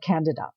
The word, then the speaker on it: Candida: So the first thing you'll discover is they pronounce it differently. They call it Candida.